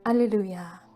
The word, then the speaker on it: 알렐루야: 부활을 축하합니다 예수님께서 부활하셨습니다 알렐루야 우리는 50일간 성령 강림 대축일 까지 부활 시기를 보내며 야외에 하느님을 처음 하여라 라는 뜻을 가진 히브리어 헤어 할렐루야 를 그리스어 발음으로 알렐루야 하고 외치고 또 외치고